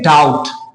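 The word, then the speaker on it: doubt: यहां पे अब देखें हम इसे पढ़ते हैं डाउट कोई इसे नहीं पढ़ता डाउट है ना बी को पढ़ता नहीं क्यों पढ़े भाई य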